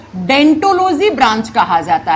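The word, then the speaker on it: Odontology: लिखा जाता है ओ से जब आप प्रोनाउंस करते हो तो ओ साइलेंट हो जाता है और हम इस ब्रांच को इस शाखा को हम डेंटोलॉजी कह देते हैं।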